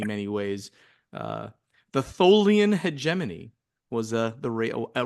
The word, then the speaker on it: Hegemony: Corey for pronouncing the name it's it's hegemony hegemony is the way you pronounce that word noty hegemony oh just you